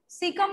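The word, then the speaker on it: caecum: Okay, A is silent in this. सीकम में ए जो होता है आपका साइलेंट होता है.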